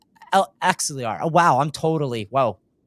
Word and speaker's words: Axelar: How does Alexiar and MX Bridge, I totally butchered that, differ in roll and rollout? Axelar.